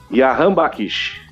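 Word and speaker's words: Jahanbakhsh: E qual que é a pronúncia correta mesmo? Jahan Bakish.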